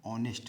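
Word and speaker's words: honest: अब ही इज के बाद क्या भरना है, ऑनेस्ट मैन। अब यहाँ आर्टिकल होता है, आर्टिकल 3 होते हैं, ए एंड द। अब चूँकि शुरुआत भले ही एच से हुई है, लेकिन इसका प्रोनाउंसिएशन जो है वावेल है, इसलिए आयन का प्रयोग होगा।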